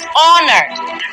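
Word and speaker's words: honor: একই ভাবে দেখেন অনার। অনার কি দিয়ে শুরু হয়? এইচ ও এন ও আর। সো এইচ দিয়ে যে শব্দটা শুরু হচ্ছে এটা কিন্তু একটা কনসোনেন্ট শব্দ দিয়ে শুরু হচ্ছে, রাইট?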